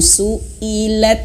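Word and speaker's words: سُئِلَتْ: Kebanyakan dari kita itu terlalu terbawa nafasnya gitu ya, vokalnya, sehingga dibacanya itu suilat, maudatu, suilat. Nah, ini salah ya. Hamzahnya harus diperhatikan, terputus suara, ada komanya. Perhatikan.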